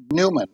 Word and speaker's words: PneuMan: them into mechanical Movement we call them Newman and it's spelled with a p because it's pneumatic and pneumatic okay okay if you